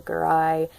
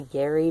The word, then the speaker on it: Garai: And then other cast members are Romola Garai, another actress whose name I can never say properly. I always want to say Gary, but it's Garai.